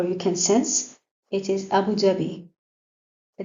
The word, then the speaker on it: Abu Dhabi: Abu Dhabi the capital of the Arabic United Amirits. Abu Dhabi it is originally or in the Arabic sorry in the Arabic language Abu Vabi.